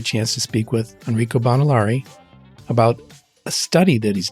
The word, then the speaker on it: Bonilauri: last name too badly enrio bonari I believe is the correct pronunciation that's perfect thank you